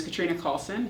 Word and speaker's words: Katrina Callsen: Um so, my name is Katrina Coulson. It's spelled K A T R I N A C A L L S E N.